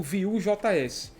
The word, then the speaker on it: Vue: Vue é uma palavra em francês que significa view, né? Seria a pronúncia como view.